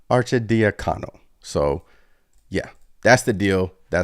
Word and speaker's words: Arcidiacono: They're trading Ryan Archinacano and Shri to Portland. New York was just short of the threshold for deal, so needed to include Archin. Why can't I pronounce these damn names? Arcidiacono.